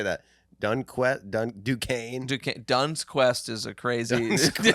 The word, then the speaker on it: Duquesne: First Duns Quest. What is that school? You don't even know how do you say that. Duquesne.